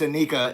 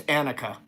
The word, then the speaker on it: Anika: I said it was Anika. It's Annika. The way that it registered in my brain, like I read it Anika. I was like, Anika? No, it's Annika.